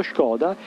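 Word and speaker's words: Škoda: è un nome e la pronuncia esatta mi dicono gli amici della Repubblica Ceca è Skoda con la S poiché quella freccetta sopra è cosiddetta acec ci porta a pronunciare il termine in questo modo shoda e la parola sembra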